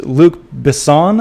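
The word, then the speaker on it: Luc Besson: our list here is Luke Bon I believe is how you pronounce his name is working on a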